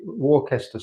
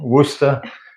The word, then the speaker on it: Worcester: we have is the warcaster source as she was trying to say i think she's learning also how worcester is pronounced when it's being said in a british way unfortunately the marmite pot